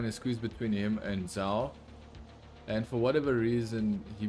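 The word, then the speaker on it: Zhou: alfa romeo of of zao or as as they call him zhao like i just know his name and i just know the pronunciation is not an english pronunciation that is why i'm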